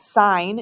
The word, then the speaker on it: sin: Okay, I know it looks like the word sin, but we still pronounce that sign in the math world.